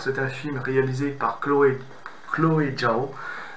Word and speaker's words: Chloé Zhao: Alors, c'est un film réalisé par Chloé Zhao. Chloé Zhao, je pense que ça se prononce comme ça, son nom, qui est une